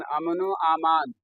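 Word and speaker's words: अमन-ओ-अमान: अमनो ईमान नहीं होता है, ईमान तो या से हो जाएगा आमान, आमान, अमनो आमान।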